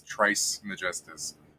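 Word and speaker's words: Trismegistus: as I'm I'm not I'm trying to pronounce it like separated but I should just be saying he's Trice majes like Trice majes it's Trice majes get me it's The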